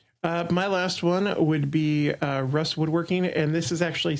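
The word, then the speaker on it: Ruis: My last one would be Russ Woodworking, and this is actually spelled R-U-I-S, but I believe it's pronounced Russ.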